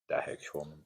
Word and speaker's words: dahergeschwommen: Dahergeschwommen. So I would say it that's auf der Nudelsuppen dahergeschwommen. Oh, dahergeschwommen. Okay. That's how I would pronounce it.